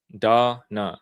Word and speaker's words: Donna: And Donna says it's pronounced like Donna. Da-na. Yes. Got it.